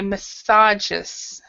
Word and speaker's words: massages: so in this one what we do is we pronounce we we stress it in a second syllable so we'd say massages massages okay geez yeah all